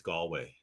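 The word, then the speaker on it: Galway: all the rest of I learned it's gallway gallway I'm sorry it's not gway that's what those dumb Americans say well blame it on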